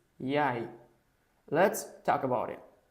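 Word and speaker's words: jeg: It is not yag, it's yay.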